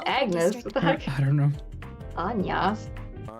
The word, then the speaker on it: Agnes: myself my name is anas how did they say her name Agnes yeah it's Agnes theck I don't know